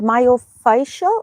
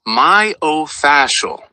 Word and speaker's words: myofascial: called again the word myofacial. Fascial. Oh my god. Why is hard to to say it? What is the name? It's pronounced myofascial. Try saying it in two parts. Mayo then fascial.